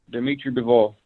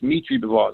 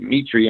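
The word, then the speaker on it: Dmitry Bivol: Number 5, Bivol, Dimitri Bivol. Oh, not Dimitri Bivol. It's Mitri Bivol. The D is silent. They pronounce it Mitri in Russia. That's how you really say his name, Mitri Bivol.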